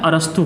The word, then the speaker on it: अरस्तु: Biology का जनक father, ठीक है, कहा जाता है अरस्तु को।